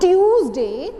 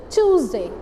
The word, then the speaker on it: Tuesday: So this is not Tuesday, this is Tuesday. This is Tuesday. When you speak like choose, C-H-O-O-S-E, choose. So like that you have to pronounce this word, and this will be Tuesday.